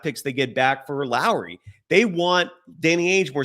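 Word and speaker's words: Lauri: of the belief that Lori marinin I'm sorry Lowry marinin uh as Damon Bruce enlighted me the other day his first name is pronounced similar to Mike Lowry from Bad Boy so it's l remarking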